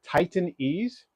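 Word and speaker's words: Titan EZE: I like a double stand called Titan Ease, and it's spelled Titn dash EZE, I believe.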